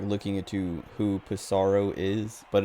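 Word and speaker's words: Psaro: looking it to who pisaro is but it is pronounced pisaro cuz it's like it's supposed to be like pizaro or something but the localization didn't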